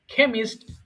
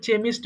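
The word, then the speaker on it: chemist: খ্যাশিয়ার খ্যাশিয়ার হিসেব রক্ষক কেমিস্ট রসায়নবিদ এটা আবার অনেকে ভুল করে চেমিস্ট বলে ফেলে হ্যাঁ এটা দেখতে পাচ্ছেন বাংলা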